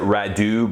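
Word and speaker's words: Radieux: and santol and owed I think it's red yo she pronounces it Radu but to me it looks like ride the oh not really sure not that it matters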